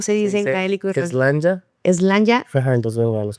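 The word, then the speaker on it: Sláinte: Slanja.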